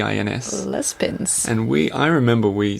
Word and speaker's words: Juan-les-Pins: no hard to pronounce it's spelled jua n like Juan in Spanish yeah and then l s and then pins p i ns Les pins and we I remember